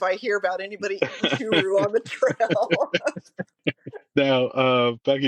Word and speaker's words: Churu: Yeah, I'm gonna have to look up Churu, is how it's Yeah, pronounced.